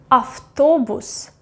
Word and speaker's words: автобус: And the last example, автобус, автобус, автобус, Т. Let's find it over here. Т is voiceless, yes, that's why it will be автобус, автобус.